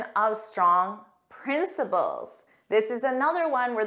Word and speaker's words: principle: delay was the weather so remember principle this is a basic truth or moral Rule and principle the same pronunciation this is the head